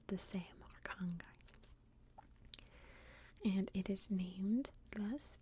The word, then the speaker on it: Arkhangai: from what I can tell, it is all pronounced the same, Arkhangai.